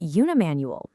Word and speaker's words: unimanual: On the flip side of that, we have unimanual, pronounced unimanual.